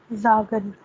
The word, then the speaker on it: sagen: pronunciation, so the A would have A sound, Zagen. Sagen.